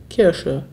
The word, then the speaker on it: Kirsche: Zoe Welsh fragt, wie ausgesprochen die Kirche versus die Kirsche? Kirche, Kirsche, Kirche, Kirsche.